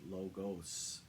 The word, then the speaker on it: logos: of logic or knowledge logos the S is pronounced and logos with a z refers to images that represent a group